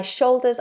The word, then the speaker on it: shoulder: release my shoulder tension bear in mind how I'm pronouncing that shoulder shoulder a lot of my students recently have been struggling with this dark l sound a dark L is